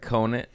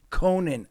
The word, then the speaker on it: Conant: Your last How do you pronounce My name's Conan. Conan.